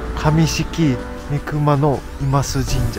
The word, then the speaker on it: 上色見熊野座神社: これね、上式御熊の今須神社って読みます。